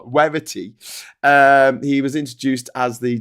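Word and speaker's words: Werritty: Werity with a W. I'm not pronouncing that wrong. It's not Verity, but it's Werity.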